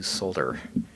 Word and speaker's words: solder: pronunciation people out there I am starting to try to add the L to solder I didn't grow up using the L so all right we're